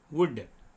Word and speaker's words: would: WOULD వుడ్, ఇక్కడ కూడా వుల్డ్ అని చదువుతారు, L సైలెంట్, WOULD వుడ్.